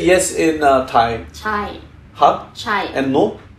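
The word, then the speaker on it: ใช่: Chai.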